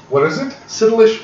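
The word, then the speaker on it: Cytillech: This is Citilish oil. It's a poison. What is it? Citilish oil. It's poison. I'll spell it.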